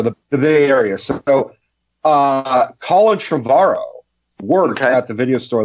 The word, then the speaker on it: Trevorrow: Like I was like, you're not Colin Trevorrow's brother. He's like, well, it's Trevorrow. It rhymes with tomorrow.